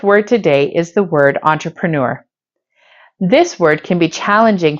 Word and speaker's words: entrepreneur: today is the word entrepreneur this word can be challenging for English language Learners because it's actually a French word that is used in English once you recognize that